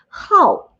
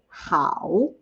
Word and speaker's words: 好: great awesome okay but when it is pronounced as the fourth tone the falling tone how instead of how it is a verb